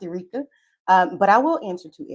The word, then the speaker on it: Erica: It's spelled like Erica, but it's pronounced Erica.